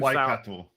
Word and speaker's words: Waikato: Waikato. Yes, I know. But my 5-year-old has begun correcting my pronunciations of it, and I try so hard.